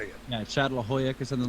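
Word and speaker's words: Çatalhöyük: Some of the early towns like Jericho and Katolhoyak. Let me see if I used to know how to say it. Yeah, Chatlahoyak or something like that.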